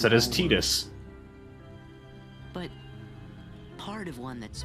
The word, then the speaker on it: Tidus: in like other final fantasy games and they pronounce it as tidus but part of one that's much bigger hey